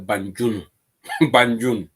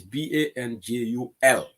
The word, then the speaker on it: Banjul: to babal ka ko debt Adama bu ka pronounce no nte bira ba fle kamera ka fo def Banjul Adama ka fo le Banjun you know it is ile angale kamole foka is BANJUL ngalon ko locally mo jangala ka fo Banjuno